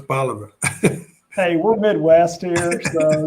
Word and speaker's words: Bolivar: 14 years here at Bolivar. And I've been mispronouncing it, huh? It's Bolivar.